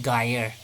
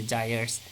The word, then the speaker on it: gyres: circulation of ocean water we call it geyer actually it is to be pronounced as desires okay gyres see you will see